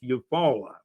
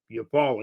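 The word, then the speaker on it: Eufaula: And Alex, it is pronounced Yupala. Yupala.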